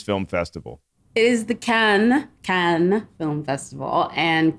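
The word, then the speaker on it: Cannes: or is it KH how do I properly pronounce this Film Festival it is the can can film festival and K C aen is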